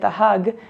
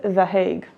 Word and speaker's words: The Hague: I've been calling it the hug, as that's how you say it in Hebrew, but they're not hugging us, so let's go with The Hague.